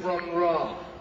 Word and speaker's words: Bron-yr-Aur: Wikipedia says the pronunciation for the Welsh word is Bron-yr-Aur, and Robert Plant pronounced it totally differently at a show in 1973. This is a thing called Bron-yr-Aur.